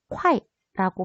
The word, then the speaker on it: 块: 원래는 위안이라고 읽습니다. 근데 여기 나와 있는 한자는 위엔이 아니고 이런 한자가 나와 있네요. 얘는 발음을 했을 때요. 콰이라고 발음을 해요. 회화체에서는요. 위안을 이런 식으로 콰이라고 표기를 하고 발음을 합니다. 위안이랑 똑같은 말이라고 생각을 하시면 됩니다. 글로 쓸 때는 웬, 말로 할 때는 콰이.